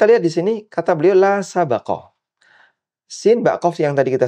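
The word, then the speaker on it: لا سبق: Yang kedua, la sabaqah, bacanya baknya di fathah.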